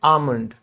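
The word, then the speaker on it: almond: आलमंड नहीं। यह L silent है। इसको हम कहते हैं आलमंड।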